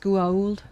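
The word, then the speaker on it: Goa'uld: It's pronounced Guauld.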